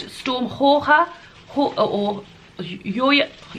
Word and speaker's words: Jorge: This one I think is called Storm Jorge, or Yoya. It looks like it says George with a J, but I saw that it's pronounced Jorge or Hoye something.